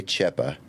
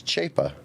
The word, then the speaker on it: Chapa: It's easy to say Chepa. Cha is how it looks. It's Chapa.